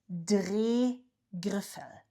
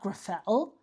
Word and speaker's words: Drehgriffel: Leuchtturm Drehgriffel. It's not Griffel, it's Drehgriffel.